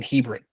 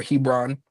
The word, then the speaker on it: Hebron: So they make it to Sarah being 127 years old in Hebrin or Hebron depending on how you pronounce it and Sarah dies.